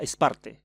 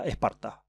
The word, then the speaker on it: Sparta: de esparta misma que en griego coyné se pronunciaba es parte ya que reemplazaba la letra alfa con la eta en dórico se decía esparta en saco nica todavía